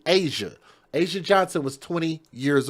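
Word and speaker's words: Azsia: It's a Z SI A. Asia.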